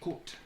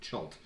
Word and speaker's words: Chult: up any information online, a lot of people pronounce it Chult, which is stupid. It says in the book Colt.